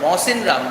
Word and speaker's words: Mawsynram: Mawsynram, the place is called Mawsynram, which receives the highest rainfall in India.